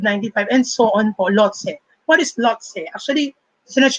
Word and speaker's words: Lhotse: and so on po, Lhotse. What is Lhotse? Actually, sinerch ko pa yung pronunciation niya. It's not Lhotse, but Lhotse. Para daw siyang Lao-tse, Lao-tzu.